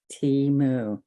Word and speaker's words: Temu: it's easy to do Teemu is t e m u and you pronounce it like T moo all right and so